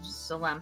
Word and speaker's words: Zalam: I want to get a description, like a physical description of Zalam. How do you spell that, by the way?